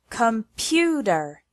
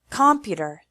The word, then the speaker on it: computer: computer as an example it has three syllables and the stress is on the second one computer if we put the stress on the first or third syllable the word sounds completely different computer computer unfortunately there is no